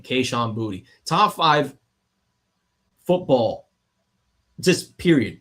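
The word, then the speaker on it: Kayshon Boutte: Stefan Diggs, Kahan Booty, and yes, that is actually how you pronounce his name. Kahan Booty.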